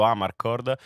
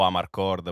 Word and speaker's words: Amarcord: il format è stato ribattezzato Amarcord o Amarcord poi a seconda diciamo della pronuncia in realtà sarebbe Emiliano e abbiamo diciamo fatto due